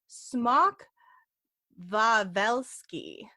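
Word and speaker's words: Smok Wawelski: veli yeah yeah so I'm trying to pronounce all these polish words correctly because the W's they turn into v's and if you don't know that you'll pronounce it wrong um so this Dragon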